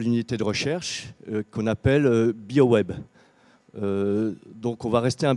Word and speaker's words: BioWooEB: a un nom bizarre qu'on prononce bio web biogaz issu d'un acronyme